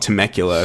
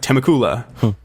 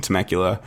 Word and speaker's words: Temecula: away from me now, in this place called Temecula. Though I pronounced it the first time I pronounced it, I was like Temecula.